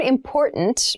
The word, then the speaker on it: important: important so the word important means something that we need to consider carefully yes the pronunciation of this word that first t is actually reduced it sounds more like a d in fast speech water is important to